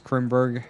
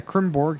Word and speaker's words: Krimborg: Travis Krimberg, Alex Murray up front. It looks like Brandon Edgstrom went down pit road. And Krimborg, excuse me, I said his name wrong again.